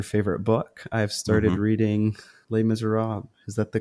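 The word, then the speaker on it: Les Misérables: I asked your favorite book I've started reading lay Miser Rob is that the correct pronunciation yes look at that thing how many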